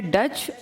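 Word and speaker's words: Dutch: या नीदरलैंड के लोग डच कहलाते हैं जैसे हम इंडियन कहलाते हैं इनका नाम डी यूटी सी एच लिखते हैं टी इस में साइलेंट है ई का मतलब ये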